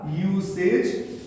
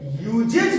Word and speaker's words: usage: तो जो हमारा वर्ड बनेगा यूसेज, USAGE, ये जो हम लोग का यूसेज वर्ड बनेगा, ये यूजेज पढ़ेंगे गलत हो जाएगा, ये हमारा होगा यूसेज।